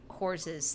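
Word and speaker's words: Horze: But now I want it to be horses. Because that's how I've always pronounced horses, the room. That was the pitch. The problem is it sounds like whores. It sounds like you're saying whores.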